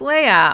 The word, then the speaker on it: Leia: Little note, my name is pronounced Leia. I'll always respond to Leah, though.